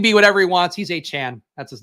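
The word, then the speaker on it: Achane: Don't English teachers say if there's an E at the end of the word, the A is long, thus a chain? No.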